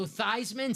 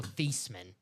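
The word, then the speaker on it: Theismann: back to thieves men but it does sound better Joe thyman sounds so much cooler than Joe theeman thyman does sound cool yeah so paid for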